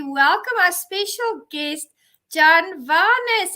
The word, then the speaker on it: Vanis: You're right when you say Vanis. Vanis.